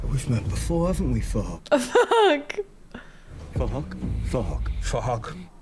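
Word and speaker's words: Phuc: Spelled with a PH, so it sounds like for Huck. So it's for Huck. Something like that.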